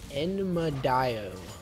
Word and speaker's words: Enmadayo: Okay, I've got the correct pronunciation of the ADC here, and it is Enmadayo.